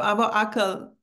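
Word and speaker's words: Abu Akel: Okay, so Abu Akal is the way you pronounce it, sort of American. Yeah, then you know, unless you're Arabic and know how to do ah, it's you don't know what you're talking about.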